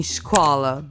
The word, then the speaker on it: școală: And then you have sounds like 'ț' for example in 'piață' (market) or 'ș' (an 'sh' sound) like in 'școală' (school).